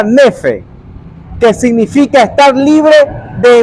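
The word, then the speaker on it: νῆφε: La palabra sobrio en el contexto del griego se pronuncia nefe, que significa estar libre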